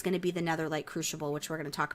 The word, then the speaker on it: Crucible: So basically, this will allow you to focus on the Netherlight Crucible. I don't understand what's being... Did I say crushable? I pronounced it right. Fuck you. No, you didn't. I said crucible.